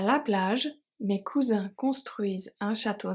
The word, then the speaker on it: plage: a lot à la plage. The E of plage is silent.